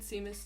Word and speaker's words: Seamus: In Charms class, while learning Limgardian Leviosa, what did Seamus do to his feathers?